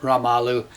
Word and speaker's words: Ramalho: is Elba kamalu uh that's an R pronounced kind of like an H in Brazilian Portuguese halalu ralu the album's calleda trying